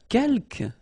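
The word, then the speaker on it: quelques: the second one uh K you don't pronounce the final s here Kel means few okay and same thing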